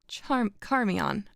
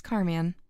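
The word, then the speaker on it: Charmion: The conversation of Eros and Carmion. I'm going to assume it's Carmion. Carmion. I believe the CH is pronounced as a K.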